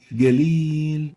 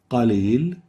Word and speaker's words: قليل: instead of qalil, we use the English ig. It will be galil, and this is wrong. The right way of pronouncing the qaf here is like this. قليل Qalil.